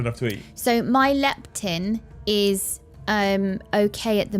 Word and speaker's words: leptin: Leptin. Leptin. Yeah. Yeah. Yeah. Leptin. Leptin. So, it's the thing that tells you whether you're full or not or you've had enough to eat. So, my leptin is um okay at the minute, but it's